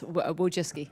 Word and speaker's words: Wojcicki: Miss Wojcicki, is that how you pronounce it? Yes, Wojcicki.